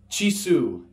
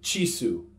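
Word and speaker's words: Jisu: are Christian this is Chi su J is U the letter J is a special character in Fijian it's a CH sound a hard judge in this case ji su Chi su alright moving on the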